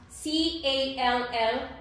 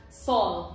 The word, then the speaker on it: call: A lot of people will pronounce C-A-L-L, call, as sol.